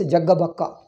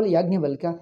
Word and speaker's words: Yajnavalkya: He says Jaggabakka. We call Yajnavalkya, he says Jaggabakka.